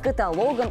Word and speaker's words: каталог: с произношением слова осталась запоминайте список перечень каких-либо однородных предметов называется каталог Без вариантов при склонении по всем падежам и даже в форме прилагательного каталожный до встречи завтра